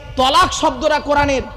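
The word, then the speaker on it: طلاق: শব্দটা তালাক নয়, শব্দটা তালাক নয়, শুনে নিন। শব্দটা তালাক নয়, শব্দটা হলো কি? তলাক।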